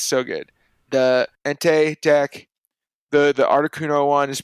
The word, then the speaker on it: Entei: Turns out like the Entei, that's how you say it.